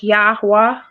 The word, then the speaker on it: Yahuwah: actually says the letter they pronounce the sounds of the letter y-h and the exhale says w h so it's yahuwah okay and what about